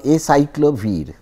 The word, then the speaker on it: acyclovir: And if you want to do that, suppose I take a compound which is, there is a drug called acyclovir, actually that is the pronunciation.